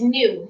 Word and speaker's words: gnu: So a GNU, that's it's new. It's how you say it is new.